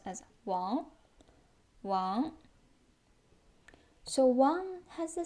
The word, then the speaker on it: 王: Pronounced as Wang.